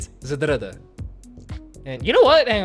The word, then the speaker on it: Zdrada: people were like, hey, you're pronouncing it Zedrada, and it's like, there is no A in between the Z and the D. It's Zedrada.